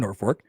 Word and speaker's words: Norfork: for us Brandon says I'm from Norfork it was supposed to be named nor North Fork for the North Fork of the oorn river that runs through town the post has changed it thinking they met Norfolk like Virginia end up with Norfolk so that's what you got to know when you come into town nor Fork Nebraska sad that I won't